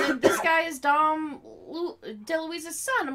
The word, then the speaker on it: DeLuise: DeLuise.